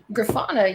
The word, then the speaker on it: Grafana: of tinkering ash you have been tinkering with graffina is that correct grafana yes obama i i looked up a video